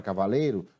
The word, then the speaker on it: cavaleiro: Na palavra cavaleiro, nós temos, então, quatro sílabas. Cavaleiro. E qual é a sílaba que pronuncio com mais intensidade? Qual é a sílaba mais forte? Qual é a sílaba tônica dessa palavra? Lembrando, há duas formas de fazer. A primeira, para descobrirmos a sílaba tônica, é batendo palmas. Cavaleiro. Cavaleiro. Qual foi a sílaba na qual a palma apareceu com mais intensidade, mais força? O lei.